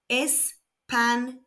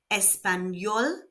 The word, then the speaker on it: español: The tilled adds a y sound after the n. So Spanish is espanol and espanol. You may also note that there are no accents needed here. Espanol ends in a consonant other than n and s.